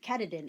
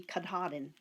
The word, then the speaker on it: Katahdin: I mean, Katadin. It turned out to be Katahdin. You know, it's just different ways of pronouncing things.